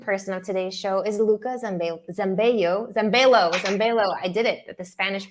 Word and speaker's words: Luca Zambello: course, the guest of honor, the most important person of today's show is Luca Zambello. I did it, the Spanish pronunciation. It's not Spanish, it's Italian.